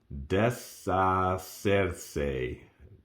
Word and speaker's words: deshacerse: Deshacerse. Des, H is silent.